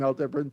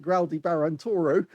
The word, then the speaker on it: Aldebaran: by Al Dean as we we're calling him Al debran from now on because of course um it it doesn't seem right to actually call it groudy Baron Toro um because that's not the correct way of